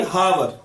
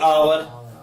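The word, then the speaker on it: hour: जैसे यह अक्षर अब बच्चे इसे कैसे कैसे उच्चारण करते कई बच्चे से बोलेंगे हावर कई बोलेंगे आवर बार मगर इसका सही उच्चारण है इंग्लिश का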